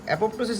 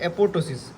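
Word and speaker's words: apoptosis: ठीक है, ये एपोप्टोसिस, जिसे हम एपोप्टोसिस नहीं, इसे हम बोलते हैं एपोटोसिस। करेक्ट स्पेलिंग ऐसा होता है, एपोटोसिस।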